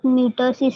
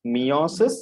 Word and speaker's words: meiosis: sexual reproduction in both metasis and mitosis mitosis and mitosis it is not metal cells it is meiosis okay pronunciation is meiosis and mitosis okay there